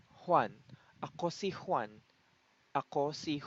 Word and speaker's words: Juan: am one my name is Juan actually it's pronounced one in in Tagalog so first say I aku